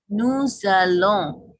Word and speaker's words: nous allons: কারণ আমি আগেও বলেছি, যখন একটা শব্দ কনসোনেন্ট দিয়ে শেষ হবে এবং পরের শব্দটা যদি ভাওয়েল দিয়ে শুরু হয়, তাহলে ওই দুটার উচ্চারণ এক করে করতে হয়।